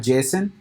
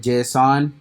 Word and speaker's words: JSON: format called J okay so the pronunciation for this and I have done research everything it's called Jason right but you will see here people calling it JSON but the right pronunciation for my research is Jason okay so the format